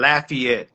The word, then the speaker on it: Lafayette: You don't want to mispronounce it. I'm from. I was born and raised in Lafayette, Louisiana.